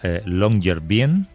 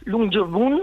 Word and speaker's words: Longyearbyen: Estás en, creo que se llama Longyearbyen. Sí, bueno, se pronuncia de una manera absolutamente infernal, algo así como Longyearbyen o algo así, en noruego, pero significa algo tan